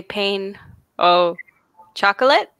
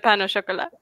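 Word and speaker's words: pain au chocolat: look french you see that's an example of how an english person would probably say pain oh chocolate instead of pan or chocolate i think where you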